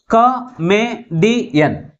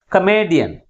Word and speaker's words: comedian: Comedian. 4 syllables ఉన్నాయి. But which syllable is pronounced with a greater force? That is third syllable from the last is pronounced with a greater force comparing with other syllables.